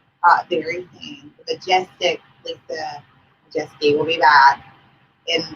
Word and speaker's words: Maciejewski: But yeah, see, I always think of it as Lisa Majestic. It's Lisa Majeski.